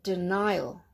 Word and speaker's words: denial: And denial. Denial. Okay, the AL ending, denial.